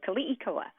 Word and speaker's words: Keliikoa: yeah it's K eoa so in Hawaiian all the vowels are always pronounced but sometimes very quickly so K COA and yeah I I